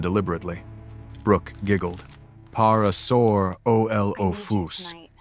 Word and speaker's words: Parasaurolophus: "Even Parasaurolophus?" Travis asked, mangling the pronunciation deliberately. Brooke giggled. Parasaurolophus. You have to say the middle part louder."